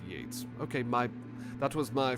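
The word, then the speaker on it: Yeats: Oh, is it pronounced yeets? Did I was I saying yeets? Was I misreading it? Spelled yeets, but uh pronounced Yates.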